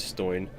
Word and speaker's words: Stoin: special my name's family name is stoin though it was originally stone as my ancestors followed the trait of masonry however it is pronounced almost the same way so nobody even noticed